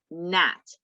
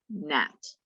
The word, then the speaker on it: gnat: and it's bat and nat. The G is silent. Okay, this hand shape is the ba, na, and hua sounds. So bat, nat.